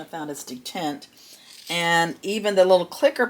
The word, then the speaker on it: detent: I've been calling it dant, but the correct pronunciation I found is detent.